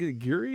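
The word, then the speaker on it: Guiry: Tom Guri, I think Guri is how you say his last name.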